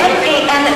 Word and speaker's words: MAN: Now, most people would say this is man, but that's not pronounced correctly. It is MAN because it's an abbreviation of three companies that merged.